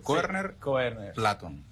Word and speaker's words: Koerner: solo apellido sí OK Pero se pronuncia así tu apellido Corner Platón el Exacto muy